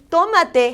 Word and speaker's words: tomate: And oh, I want to tell you that the word tomate has an accent on the O. Accent in Spanish means you're going to elevate your sound more.